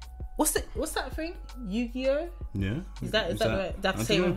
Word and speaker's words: Yu-Gi-Oh: Yu-Gi-Oh. Yeah. Is that the same with him? No, that's how you pronounce it. No, it was in the cartoon. Yeah, Yu-Gi-Oh. Is that how you say it?